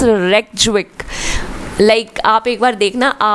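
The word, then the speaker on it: Reykjavík: Iceland की थोड़ी pronunciation problem है, इट्स रेक्जविक।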